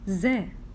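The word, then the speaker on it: زاي: above it one dot we pronounce Ze Ze we have not to make our tongue out this is Ze okay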